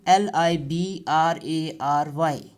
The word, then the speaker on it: library: so see the spelling li b r a ry now pronunciation let me maximize it for you see library live rah ree there are three syllables live okay ly ly brah free